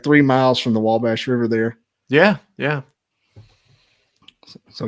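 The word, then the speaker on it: Wabash: yeah right across the W bash so if you go uh if you cross the W Bash that's how they say it in Illinois well yeah that's how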